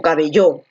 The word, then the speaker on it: cabello: Tú dices cabello, cabello o cabello. Tú dices cabello, ¿no? Donde la fuerza de voz está aquí en B.